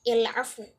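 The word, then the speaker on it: العفو: Kemudian yang biasanya al-afu alif lam itu dibacanya al-afu berarti diganti menjadi il, berarti il-afu.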